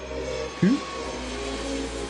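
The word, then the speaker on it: Huế: Or who? Or who? No, it's Hue. Hue.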